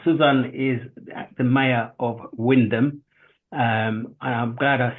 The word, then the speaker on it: Wymondham: norri Nixon now suzan is the mayor of Windam um and I'm glad I said that right I think last time you was on the show I said why monam which I think how I pronounce It in